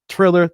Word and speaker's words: Triller: to talk first about thriller triller thriller whatever you call it i don't know i know i'm mispronouncing it there's no h in there but hey it is